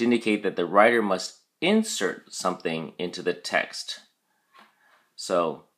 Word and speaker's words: insert: look at your flashcard insert has two syllables in cert and the emphasis or stress is on the second syllable cert so we say insert insert it is a verb